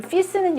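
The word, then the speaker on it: fils: 아들 이란 단어의 요 좀 피스는 요 발음의 가끔 나와요 이거든요 요게 발음이 안 나고 끝에 자음의 오히려 받음이 나는 단어의 요 조금 예외적 잊어 피스 라고 합니다 우리가 배운 그 발음의 원칙으로는 이게 수필 이라고 해야 되겠지만 씨스 라고 발음합니다 아들 이라는 단어에 요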